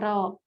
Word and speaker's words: กรอบ: ประสงค์ สละ เดียว กัน เวลา อ่าน จะ ออก เสียง เพล สนะ 2 ตัว พร้อม กัน เช่น กรอบ อ่าน ว่า กรอบ คำ ที่ มี รอ